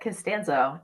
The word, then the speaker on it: Costanzo: Did I pronounce that right? Costanzo? Yep, Costanzo. Absolutely. Costanzo. Just like with an O.